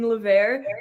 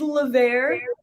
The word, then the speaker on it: Levert: tonight so let's say i love how you were saying lavere we have this contest in the office every time we hire someone new we say okay without it without us telling you how do you say it and it's a game now for us so it is levere um and it is